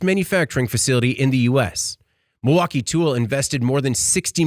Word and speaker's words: Milwaukee: did I not does do you not hear the l Milwaukee I don't hear it Milwaukee Milwaukee oh sorry